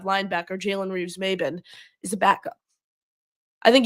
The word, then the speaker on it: Jalen Reeves-Maybin: I think that's how you say it, Jalen Maybin Reeves. I think it's Jalen Reeves-Maybin. Jalen Reeves-Maybin, the linebacker from Detroit, who they just moved on from.